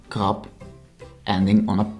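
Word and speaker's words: krab: Something remarkable for the B is that words ending on a B are often pronounced as P. For example, krap, which is written with a B, but sounds like krap, ending on a P.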